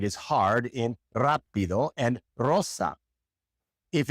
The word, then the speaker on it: rosa: We can hear this sound in words such as rapido, rapido, or rosa. Rosa.